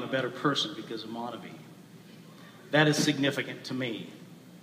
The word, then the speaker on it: MonaVie: While others pronounce the word Monavey. For me, it will always be Monavey.